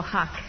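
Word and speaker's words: Haqq: His name is Emmanuel Huck. It's spelled H-A-Q-Q.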